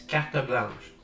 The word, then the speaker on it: carte blanche: I've heard Americans butcher that. I don't remember how to say it, but probably carte blanche, which a good try, but it's carte blanche.